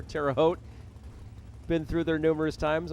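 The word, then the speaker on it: Terre Haute: Creek Collision 2000 Roadster Tera hotti as I've heard it mispronounced before terao been through there numerous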